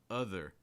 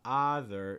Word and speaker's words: other: Also, we talked about this word earlier, other. So it's not other, it's other. I think every student I've had, almost not exaggerating, has mispronounced this as like other, but again, it's other.